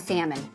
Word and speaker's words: salmon: He pronounced the L and salmon.